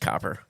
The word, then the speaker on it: Copper River: Cooper, right? Spell it real quick. Oh, Copper. It is Copper.